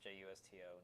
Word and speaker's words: Justo: That's Justo, no E. Okay. Not like just your toe. And there's no N. It's not Justin.